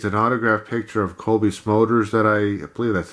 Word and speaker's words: Cobie Smulders: of autographed a it's an autographed picture of Cobie Smulders that I play that's how her name's pronounced that I got at a event I